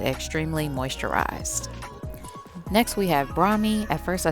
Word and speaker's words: brahmi: shaft making it extremely moisturized next we have brahmi at first i said brahimi but that is incorrect it's pronounced bromi and it helps create a natural protective layer